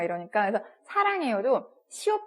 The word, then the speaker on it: 师: 시 발음이에요. 시 약간 혀를 좀 꽈서 입 천장 뒤에 이렇게 살짝 붙여서 이렇게 혀가 이렇게 말려 있는 거예요.